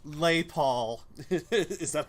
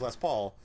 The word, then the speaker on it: Les Paul: that's a really sweet Les Paul I'm sorry lay Paul he pronounced it know what because I was hoping